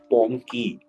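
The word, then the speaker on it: PONKE: little bit of P pony have you all heard of pony p o n k e but like bunk with a silent e or something no B for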